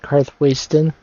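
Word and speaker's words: Karthwasten: For a while, I remembered that the game pronounces it car wasting because I thought the town is a waste of time.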